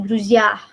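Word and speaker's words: друзья: Jadi nama Druzia. Druzia. Druzia. Druzia. Tuh. Nah, ini cara bacanya ya.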